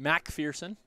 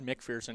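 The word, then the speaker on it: MacPherson: that's their third here Tristan Mac fierson I said McPherson he was quick to correct me say it right it's just how it's spelt I just miss the a apparently I like how he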